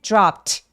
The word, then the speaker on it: dropped: 자, dropped in 할 때 dropped, P 소리도 성대가 울리지 않는 소리이기 때문에 얘도 ED를 통째로 T로 발음하죠.